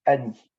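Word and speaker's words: אני: ou je le veux en hébreu ça se dit Annie et Annie ça s'écrit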